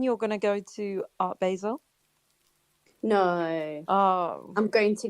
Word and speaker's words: Basel: Is it Basel or Basel? Am I not pronouncing it I correctly?